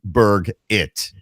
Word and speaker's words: Burgett: Burgett, pronounced as Burgett.